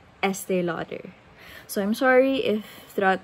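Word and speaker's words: Estée Lauder: have pronounced it as estee lauder I mean I'm not wrong technically because it is French it's still out there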